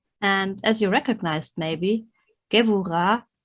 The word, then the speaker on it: Gevurah: as you recognized maybe, Gevurah and not Geburah, as it is often wrongly pronounced out of insufficient knowledge of the Hebrew pronunciation. Although the letter is called Bet, it is pronounced V as in vegetable, and the term Vegebula